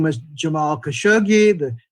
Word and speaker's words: Khashoggi: united states was saying khashoggi and it's changed to khashoggi people seem to change to try to uh more uh give an english pronunciation that more closely approximated the original arabic pronunciation last year 2019 the